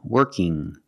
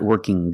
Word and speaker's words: working: There's no g sound. It's the sound working. Now sometimes when you see ing, you hear workin. That's also correct pronunciation. You can say working or workin with the N sound.